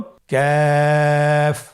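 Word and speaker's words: كاف: কাফের মাখরাজ হলো জিহ্বার গোড়া থেকে একটু আগে বাড়িয়ে তার বরাবর উপরে তালির সঙ্গে লাগিয়ে উচ্চারিত হয়। তাহলে আমরা কফ যেখান থেকে উচ্চারণ করেছি একটু আগে বাড়িয়ে সেখান থেকে আমরা তার বরাবর উপরে তালের সঙ্গে লাগিয়ে হরফটি উচ্চারণ করব।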